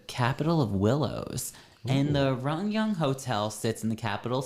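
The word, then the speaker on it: Ryugyong: on par with the correct, Yeah, like it's pronounced Rungyung, and it means the capital of willows. And the Rungyung Hotel sits in the capital city of North Korea in Pyongyang.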